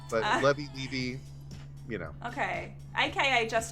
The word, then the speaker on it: Levy: I say Levy, but I never correct people if they say Levy. If they say Levi, that's a different Jewish name.